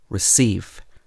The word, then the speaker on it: receive: And in two-syllable verbs and prepositions, you normally stress the second syllable. For example, relax, receive, between, among. So you wouldn't say relax, receive, between, and among.